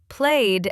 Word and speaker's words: played: Played ends with a d sound.